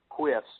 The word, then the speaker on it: qwf: real easy to say quiffs because uh uh you know you don't want to say qwf every time you'll say it right it's quiff it rhymes with if and that's the way